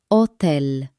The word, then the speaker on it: hotel: If you see the word for hotel, just ignore the first letter and say hotel.